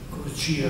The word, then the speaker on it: Corcira: E poi si invita con Cleonimo, cui ablata Corcira, al quale sottratta Corcira, Corcira con l'accento latino, non si sa mai come pronunziare, Rex Cassandra, Re Cassandra di Macedonia, che gli ha tolto Corcira, poi morì.